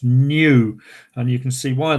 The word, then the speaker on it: nu: letter n but it's the greek letter is pronounced new and you can see